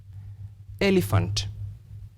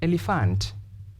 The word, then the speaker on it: elephant: to understand for example if I say the word elephant elephant then I change and say elephant elephant so if you examine the two articulations you'll realize that the second one sounds different or awkward therefore I'd like to